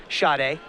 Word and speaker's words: Schade: I keep mispronouncing his name, I apologize. It is Schade, with the emphasis on the first syllable.